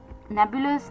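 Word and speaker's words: nebulous: तो चलिए जो 13थ वर्ड है इस शाम का वो था नेबुलस एन ई बी यू एल ओ यू एस नेबुलस।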